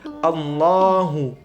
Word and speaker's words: Allahu: mendekati domah memonyongkan bibir padahal kalimat yang benar adalah sama seperti diucapkan oleh umat Kristiani Alla tapi cukup ditebalkan dengan ditafkhimkan jadi Allahu Allahu tidak dimonyongkan jadi Allahu akbar nah kemudian setelah membaca